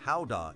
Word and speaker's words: Gouda: with cheese or why guda cheese pronounced Howa in Dutch is so globally beloved